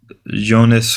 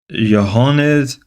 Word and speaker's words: Johannes: Jonas Klepper. I'm pronouncing that first name wrong. Johannes Kepler, German astronomer and mathematic man.